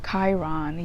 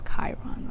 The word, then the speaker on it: Chiron: So we have Chiron. Yeah, some of you guys help me pronounce it, because I was saying Chiron. It's Chiron, okay?